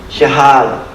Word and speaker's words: jihad: word is anyone here jihad that's how you say it in Arabic and that's another study